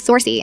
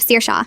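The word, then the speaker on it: Saoirse: Sersa who becomes sorsy instead of sir shawa but go forbid you say Mrs.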